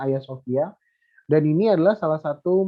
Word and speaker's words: Hagia Sophia: Nah, ini Hagia Sophia bacanya, tulisannya, terus tapi bacanya Hagia Sophia.